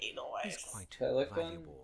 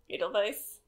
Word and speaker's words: Edelweiss: The W probably sounds like a V. Edelweiss.